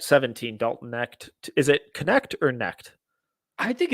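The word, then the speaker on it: Knecht: Dalton neck is it connect or NE I think it's connect are are we pronouncing the K I like the connect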